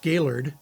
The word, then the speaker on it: Gaylord: From there, we'll head up to Gaylord, and if you're from Michigan, it's pronounced Gaylord, and it's a great camping and fishing destination as well.